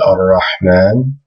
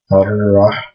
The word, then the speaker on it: ar-Rahman: And these are about half the letters in the Arabic alphabet that when you put al on the beginning, if there's a sun letter that comes next, you don't pronounce the lam.